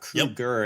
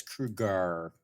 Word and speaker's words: Krueger: It's not Krueger, it's Krueger. Maybe Is that a was more supposed Germanic pronunciation of it.